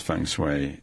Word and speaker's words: feng shui: It is feng shui, and I had a marvelous blessing.